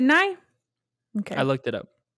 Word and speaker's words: Nye: say his name right it's not me is it is it nigh okay i looked it